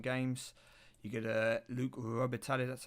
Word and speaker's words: Robitaille: I think it's how you say it, Robitaille.